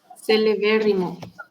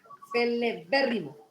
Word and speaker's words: celebérrimo: Celebérrimo. Es una palabra esdrújula, ¿verdad? Hay que cargar, hay que celeberrimo. Celeberrimo. ¿Sí? La sílaba tónica está donde lleva la tilde.